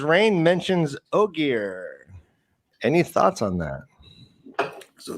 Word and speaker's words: Ogier: Marty Beck says Rain mentions Ogier. Any thoughts on that? So that's really cool. And thank you for pronouncing that. I thought it was just ogre, but I wasn't sure.